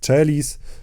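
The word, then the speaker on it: caelis: propter nostram salutem des celis tak samo możecie spotkać się pewnie z wymową celis która jest charakterystyczna dla wymowy włoskiej ale w Polsce C czytamy jako polskie C I potem mamy dy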